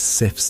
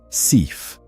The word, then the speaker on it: Sif: The goddess Sif's name in Old Norse is pronounced Sif, Sif, though it is often anglicized to Sif, Sif.